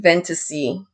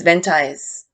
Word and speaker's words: Ventize: venta vent ventaisi vintaj i had a conversation with denise and asked her how to properly pronounce this name because i was saying ventasy but her name is ventize for whom ventize was